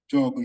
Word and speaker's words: yoga: La prononciation réelle du yoga est jog. Les Indiens font le jog. The true pronunciation of yoga is jog.